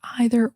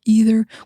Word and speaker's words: either: The word either, it could be pronounced either or either. We pronounce it both ways. I guess it just depends on what feels right in the situation, like what we feel like saying, but either way is fine.